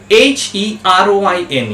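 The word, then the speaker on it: heroine: d r e proed proceded word number four h e r o i n e a word heroin heroin last word l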